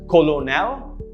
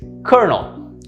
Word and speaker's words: colonel: way it looks and pronounce it as colonel no it is not the correct pronunciation is kernel notice how there's a curve no kernel kernel um and that's how it's pronounced this is a military